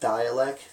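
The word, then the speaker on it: Dalek: This is a guy named Dialek, but it's spelled D-A-L-E-K.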